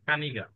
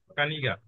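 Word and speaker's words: книга: আগে হচ্ছে বই, বইকে রাশিয়ানরা বলে হচ্ছে কানিগা, কে এন ই গে আ। ইংরেজিতে যদি উচ্চারণ করি কে এন ই জি এ, কানিগা, ঠিক আছে।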